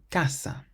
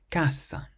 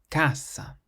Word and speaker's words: casa: The next word, casa, means house. Casa. So we stress the first part of the word, not the end, because it ends in a vowel. Casa. Not casa, but casa.